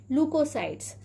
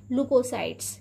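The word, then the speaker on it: leukocytes: इसे स्पेलिंग ये आपको ल्यूकोसाइट्स की दिखाई दे रही है, इसलिए हिंदी बुक में आपको ये ल्यूकोसाइट्स मिलेगा, लेकिन इसका जो सही प्रोनाउंसिएशन है वह क्या है? लुकोसाइट्स। क्या है? लुकोसाइट्स है।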